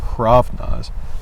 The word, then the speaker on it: hraβnaz: called a binder so he's probably not even pronouncing this a but he doesn't like leaving a constant without a vowel after he's probably actually saying hravnas like old norse norwegian but he's writing